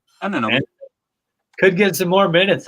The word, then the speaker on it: Anunoby: Anunoby. Anunoby.